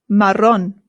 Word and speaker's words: marrón: Next one is marrón. Marrón. Marrón. The double R in Spanish is what rolls. The double R in Spanish is what rolls. So it's not marrón, it's marrón. Rrr.